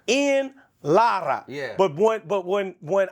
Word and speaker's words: Ian Lara: of your name so tell me what the correct pronunciation of your name is in Spanish I'm Dominican so Spanish islada Lara yeah in Lara yeah but but when